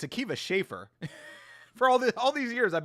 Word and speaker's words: Akiva Schaffer: I always called him Akiva Shriver, but apparently it's Akiva Schaffer.